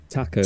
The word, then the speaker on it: taco: not my in the in the Spanish language a is pronounced with the a sound which is what makes it pronounced Taco hurry up guys so